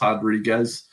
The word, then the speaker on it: Rodriguez: that is Marina Rodriguez, spelled Rodriguez on paper, but it's pronounced Rodriguez.